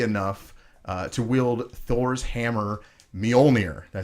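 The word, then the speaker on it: Mjölnir: who is worthy enough to wield Thor's hammer Mjolnir I said it right yeah yes okay good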